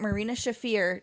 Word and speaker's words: Marina Shafir: And I'm going to die on the hill that I want Marina Shafir to get someone else with her. No. Did I say her name right for the first time? You did.